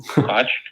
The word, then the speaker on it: Koch: It's the same name, but different, so I don't know how they pronounce it.